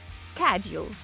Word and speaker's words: schedule: Літери C і H читаємо як К. Schedule. Також вимову цього слова можна почути як schedule. Не дивуйтесь, це також правильно, але schedule більш притаманне британському акценту, а schedule американському.